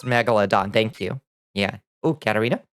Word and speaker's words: Megalodon: Hey, Megalodon, that's pretty good.